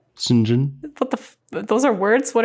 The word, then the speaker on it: St. John: Sinjin. What those are words? What are you saying? It's spelled St. John, but pronounced Sinjin.